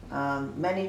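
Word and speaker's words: 麻: This character, look, this is lin, many trees, and outside you put this outside. It means flax or linen.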